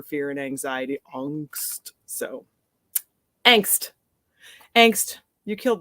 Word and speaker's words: angst: to angst or angst I'm gonna pronounce it angst in this poem which is the way we said it in the 90s in America but I also studied German and it is the German word for fear and anxiety angst